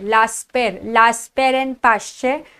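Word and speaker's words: Laspeyres: किया जाता है बेटा उसको लास्ट पेर प्रोनाउंस करते हैं लास्ट पेर लास्ट पेर एंड पाश्चर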